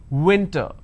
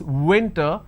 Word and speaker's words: winter: name william so i'm i make out of my lips i say william winter so it's winter it's not winter okay let's move on